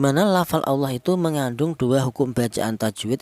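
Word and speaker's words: الله: huruf yang berharakat dhammah, maka cara bacanya lafal Allah ini dibaca tafkhim atau dibaca tebal ya, ini Allahi seperti itu. Jangan dibaca tarkik Allahi, jangan.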